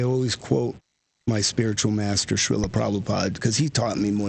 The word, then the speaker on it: Srila Prabhupada: I think the philosophical aspect of it all, like, I always quote my spiritual master, Srila Prabhupada, because he taught me more than anybody.